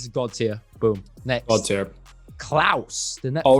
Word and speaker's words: Klaus: santa claus kind of thing and yes it's pronounced klaus in the in the film and again it's